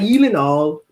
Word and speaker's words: Gyllenhaal: I found out about Jake Gyllenhaal on Conan O'Brien, and he pronounced it real, like even better than I did. Conan, it's like you're supposed to stress the all, like Gyllenhaal.